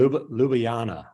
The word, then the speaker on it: Ljubljana: Now he is in Ljubljana, Slovenia. Did I pronounce that correctly? Ljubljana. The J's Wow, are Ljubljana. wow. Ljubljana.